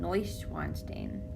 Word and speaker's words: Neuschwanstein: neues neusch weinstein stain eu's oi sound neuschwanstein castle look at me